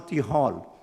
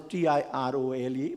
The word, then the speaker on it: Tirole: I remember one book, I possibly heard, Jean Tirole, the French economist who got the Nobel Prize in 2050. He's pronounced as Tirole, but it is not pronounced as Tirole. It's called Tirole.